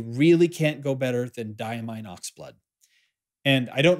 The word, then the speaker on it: Diamine: for sure the ink for for today is diamine hooray for the correct pronunciation Oxblood now if you are into fountain